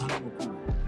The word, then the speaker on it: Thando Makhubu: Hello, Thando Makhubu. Is that the right way to pronounce it? Yeah, it's Thando Makhubu.